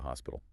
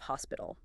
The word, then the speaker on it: hospital: and seek out the hospital. Let's analyze the pronunciation of hospital. It also has three syllables. Hospital. The crucial element here is the strong aspirated H at the very beginning.